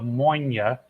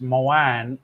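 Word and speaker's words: Moine: years ago called The moyna oloroso Cask in Scottish Gaelic but the Irish will argue it's pronounced moan even though it's spelled like m-o-i-n-e go figure uh so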